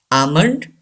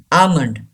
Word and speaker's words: almond: almond yes an assignment don't pronounce L almond and a gives a long sound a key lamby Ava's okey thoracic eating a Monde almond almond number six anchor anchor